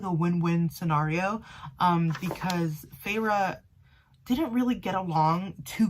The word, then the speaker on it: Feyre: introduced feyre's character and her name is spelled f-e-y-r-e and i was like i don't know how to pronounce that so i looked it up and then not a page later they actually like told you how to pronounce her name kind of like hermione and then of course